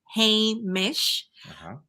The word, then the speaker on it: Hamish: It's a little challenging to say, and I can give you the pronunciation. It's Hamish.